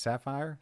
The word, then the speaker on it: Saphir: how do you say is it saphir sapphire sapphire is just sapphire saphir anyway i got